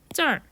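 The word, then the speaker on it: 这儿: 这儿 혀를 더 많이 말아서 발음해 주시면 되고요.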